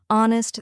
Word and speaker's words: honest: the K is silent honest the H is silent and Castle the T